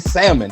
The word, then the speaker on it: salmon: don't pronounce but who who made the rule that said that that l is silent i want to meet